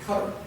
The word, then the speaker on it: Qatar: They uh, matter of fact, IQ is not actually the way to pronounce it. It's actually cutter.